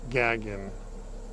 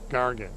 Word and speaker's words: Gargan: name was I believe Joel gagan I don't pronounce that right gargan that's it Joe gargan running the